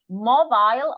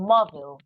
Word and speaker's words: mobile: Then we have mobile or mobile. You can say mobile or mobile phones.